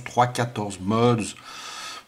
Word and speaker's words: 3.14 mods: Alors ça se prononce 3,14 mods, 3,14, voilà.